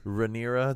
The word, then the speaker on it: Rhaenyra: her name because I don't know how to pronounce that. Rhaenyra Targaryen.